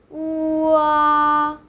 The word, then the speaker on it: ua: The next one is, the first syllable is u. Second syllable is a. Join the syllable together. Wa, wa. you might get the sound.